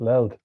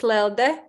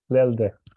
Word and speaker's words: Lelde: All right, Leld. Am I pronouncing that right, or is it Leldi or Hello, Leoldi? it's Lelde Lelde.